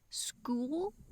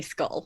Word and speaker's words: Skull: But she pronounced it school. And I was just listening to it, and so I was like, wait, she's going to school now? Wait, what? She's going to school? And it took me a long time to figure out, oh no, that's the name of the planet, and it's probably not spelled like school. It's probably another word, so yeah. It's definitely Skull.